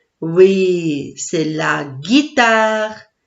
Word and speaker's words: guitare: Oui, c'est la guitare. La guitare. Guitare. 3 syllabes.